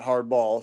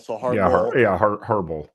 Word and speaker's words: Harbaugh: If it's Harbaugh, not hardball. So Harbaugh. Harbaugh, I think is actually how you say it.